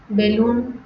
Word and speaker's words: বেলুন: এরপরে হচ্ছে ই বা রস্যকার, রস্যিকার বা রস্যকার পরে থাকলে এ সংবৃত হয়। যেমন দেখি, দেখি, রেণু, রেণু, বেলুন, বেলুন।